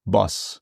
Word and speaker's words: Bosch: Boss. It is Boss. In Netherlands, yes. They would say Boss.